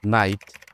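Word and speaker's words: know: যখনই খেই এর পরে এন থাকবে, খেই চুপচাপ হয়ে যাবে। যেমন নাইফ, নট, নো।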